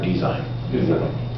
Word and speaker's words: design: assign good t side d sign for design align a line a